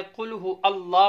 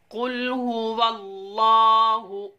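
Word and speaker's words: قل هو الله: और दूसरी चीज़ यहाँ ये आपको बताते चलें, अक्सर देखा जाता है कुल हु अल्लाह पढ़ते हैं। नादरीन, हमने स्पेलिंग के दौरान आपको सिखाया वाव लाम ज़बर वल, लाम खड़ा ज़बर ला, वल्लाह, अल्लाह नहीं करना, वल्लाह हा पेश हु,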